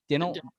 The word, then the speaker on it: Dinelson: How do you pronounce his name? Dinelson Lamet.